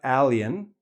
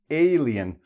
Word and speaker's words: alien: Here, alien, not alien, alien. Only the A, no I, no other sound, but we still have the same sound in this particular case.